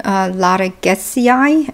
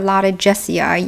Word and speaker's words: Dendrobium loddigesii: And the name is Dendrobium loddigesii or loddigesii. You can do either one. Latin has the G is hard G.